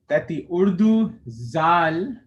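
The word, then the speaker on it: ذال: So when the Urdu zal is pronounced, the tongue is inside the mouth and it's actually touching the bottom teeth. But when the Arabic zal is pronounced, the tongue is a bit out of the mouth. It's actually a bit out of the actual mouth.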